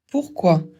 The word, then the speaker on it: pourquoi: i ça fait a commencez par ou et finissz par a ou et vous le dites plus vite celui-là sert à connaître